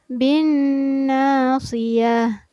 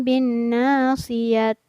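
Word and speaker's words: بالناصية: Nah, ta marbuto ini apabila berada di ujung ayat, maka cara membacanya seolah-olah dijadikan huruf H yang bersukun. Jadi kedengaran tidak terbaca ta, melainkan terbaca sebagai H. Bin nasiyah. Jadi bukan bin nasiyat.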